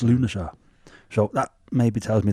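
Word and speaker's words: Lughnasadh: found that this is how you pronounce it lunaa it's spelled l u g h n for November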